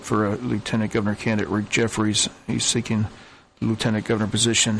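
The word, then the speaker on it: Jeffares: had interview with him so Jeffords yeah Jeffrey's Jefferies yes it's spelled GE ff8 re s but it's pronounced Jefferies yeah if you look at it you would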